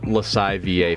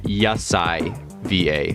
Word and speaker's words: Yasai VA: I almost thought this said Lasai VA for a second, but it's actually Yasai VA, I believe is how it's pronounced. It is a Y instead of an L.